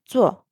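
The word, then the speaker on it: 坐: "Zuò" is to sit. So, the first one is the third tone. "Zǒu". And then, second one is "zuò" is fourth tone.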